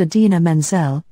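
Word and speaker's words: Idina Menzel: Broadway singer Aden Manel again that's pronounced AA Menzel John Travolta said this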